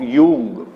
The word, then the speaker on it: Jung: तो आपने नोट लिखा है ड्यूअलिटीज ऑफ यूंग. स्पेलिंग JUNG लिखिए.